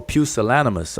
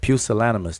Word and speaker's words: pusillanimous: right there let's let me see how to pronounce this word properly oh pusillanimous all right that's it pusillanimous that's the proper pronunciation y'all pusillanimous and that is very very true that's very